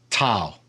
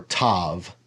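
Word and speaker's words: תו: And then the last letter is tau or tav. Again, depending on if you say vav or wow. So it's either tau or tav.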